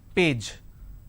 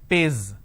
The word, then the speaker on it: page: uh just a moment ation is per a j page correct but lot of people replace the jar with a z z pays they say page number what ample its